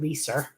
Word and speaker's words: Leiser: Although my name is spelled almost the exact same way and I pronounce it Leiser.